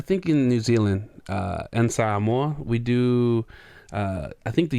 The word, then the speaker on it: Samoa: it's just pronounced how you spell it. It's just that the Western accent just add like a W in there, Samoa.